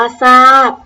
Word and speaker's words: ทราบ: Sold Out เรา มา ดู ตัว อย่าง คำ ก็ เลย ค่ะ คำ ว่า ซาย อ่าน ว่า ซ้าย ทราบ อ่าน ว่า สาด พุทรา อ่าน ว่า พุทรา